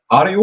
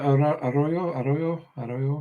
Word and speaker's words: Arroyo: Is it Ario? Is that how you pronounce it? Elijah Arroyo. Arroyo.